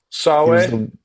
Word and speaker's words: Sawe: They're hard to pronounce. Swo Swoae, right? Oh, yeah, Sebastian Sawe. Sawe.